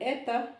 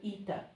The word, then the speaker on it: eta: This one is an eta, some people call it eta. So I put both possibilities, eta, or some people call it eta.